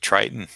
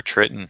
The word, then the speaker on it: Triton: And then Triton or Triton, however you want to say his name. It's okay with me. Not going to give you any grief over it because I've heard it pronounced both ways.